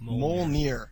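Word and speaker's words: Mjölnir: is that fokin says that medjool nur is pronounced mole near so get it right boom ogive and spellcheck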